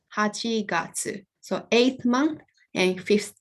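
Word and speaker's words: 八月: itsuka and august comes at the front it's pronounced hachigatsu so eighth month and fifth day so i'm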